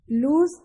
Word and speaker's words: lose: LOSE को बोलेंगे लूज, इसमें जो स्ट्रेस है वो ज का होगा, और सेकंड में लूज स का होगा।